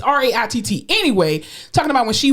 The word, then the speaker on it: Raitt: Just like y'all better Google goddamn Bonnie Raitt from which I think I say her name wrong all the time. Raitt, whatever. It's Raitt.